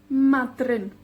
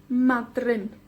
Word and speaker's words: Madryn: En galés, Porth Madryn. Madryn. 2 sílabas, la primera con la énfasis. O la penúltima con la énfasis.